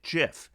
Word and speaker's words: Giff: their name is pronounced half of them say it with a hard g half with a soft g disagreements over the correct